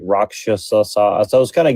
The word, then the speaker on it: rakshasa: And they call them like rakasha in like Sanskrit. They say it like rakshasa.